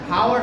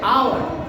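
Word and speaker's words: hour: তারপরে লাস্ট যে ওয়ার্ডটা আছে হাওয়ার না, কি হবে? আওয়ার।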